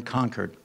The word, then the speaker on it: Concord: each other so remember we're in conquered we pronounce it a little odd but nevertheless we are living